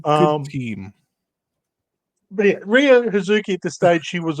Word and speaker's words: HZK: christens her HZ K which is still pronounced huki but for the case of the written version It's hzk which does become kind of